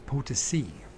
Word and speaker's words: Potosí: we just say the fucking San Luis Potosí, Potosí, because you have this accent on the end of. So it's Potosi.